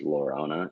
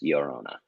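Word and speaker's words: Llorona: you know also steve the double l just you know that's not pronounced lorona it's yorona it's like a y yeah there you go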